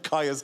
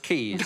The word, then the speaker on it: Caius: Oh, are you also the head of Caius College or whatever? I think you'll find it's pronounced Keys.